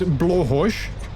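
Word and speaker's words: Blåhaj: I believe it's Blahaj, Blahaj. which I think literally translates to blue shark.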